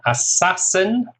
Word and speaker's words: assassin: Assassin, 3 syllables, stress on the second, assassin.